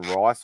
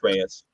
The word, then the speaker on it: Reyes: So I was like, also I was on commission list for however you want to pronounce his surname, Ivan Rice or Ivan Reyes or Reese. He does a lot of DC work, but he's Reyes.